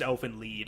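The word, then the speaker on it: Elfen Lied: it's uh I guess typed out as elf and lied l i e d but it's pronounced Elfin lead in the show huh I've never heard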